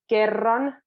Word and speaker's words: kerran: So kerran means once, and it's a double R. So you'll have to kind of roll them.